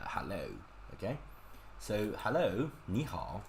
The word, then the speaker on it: 你好: Third tone and third tone. But think about it, it's really hard for human to pronounce this. Like 你好.